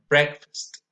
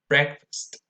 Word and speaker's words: breakfast: 8, breakfast. Breakfast. Notice that it's not breakfast. If you break the 2 words down into 2, you will have break and fast.